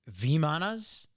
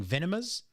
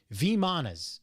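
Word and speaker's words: vimanas: the uh pronunciation of v manas i was saying venomous so i was putting n where the m was v manas is is how you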